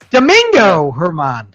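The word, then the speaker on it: Domingo Germán: pronounced that way. It's Herman. Herman. Yeah. Yes. Domingo Herman.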